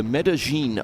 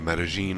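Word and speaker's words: Medellín: he won was the medene open the medene open yeah it's a couple of L's so you wouldn't have thought it would be pronounced that way but I have been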